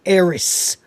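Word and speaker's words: Aerith: Mina Savvari was the original voice of Aerys, and I do pronounce it Aerys.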